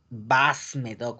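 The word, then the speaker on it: Bas-Médoc: fonéticamente y elba médoc o bajo médoc que escribe vas medo fonéticamente no porque les pido que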